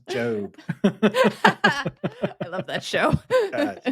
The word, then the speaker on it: Gob: It's pronounced Job.